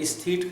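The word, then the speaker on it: aesthete: एस्थीट कहेंगे हम उसे। एस्थीट सही प्रोनाउंसिएशन है, एस्थीट नहीं है।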